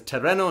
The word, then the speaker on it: tereno: But make sure to pronounce clearly because Tereno and Terano can sound similar.